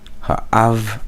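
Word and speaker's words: האב: Ha'av, av here states that it is the accent is on the aleph, so not, well, it's only 2 syllables, so I can't really move this around.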